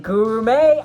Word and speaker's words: Gurumes: nice um but then King gourmet guru may oh okay that's how you say it guru may he came out and